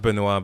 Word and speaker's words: Benoist: pronounced Benoit, but like, But this is her French.